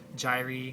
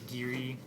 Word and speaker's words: gyri: And I don't know, I think there's different pronunciations, but plural is gyri, I think is how you would say it, or maybe gyri, if you want to say it like that.